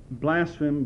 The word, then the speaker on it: blaspheme: more on the words blaspheme, blasphemy, and so on. Blaspheme, it says, the first syllable is the same as in blame, denoting injury.